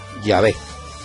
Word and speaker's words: Yahvé: nombre de dios y ellos lo pronunciaban llave pues bien ellos son portadores de una tradición muy antigua así que ya ves sería el nombre de dios más original y no sería jehová la el próximo programa